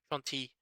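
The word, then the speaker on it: Shanti: went now Shante or she's that's pronounced Shanty um the goddess or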